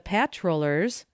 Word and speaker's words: patrollers: The patrollers, accent on the first syllable, used black snake whips.